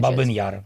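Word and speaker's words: Бабин Яр: Babin is- Yar.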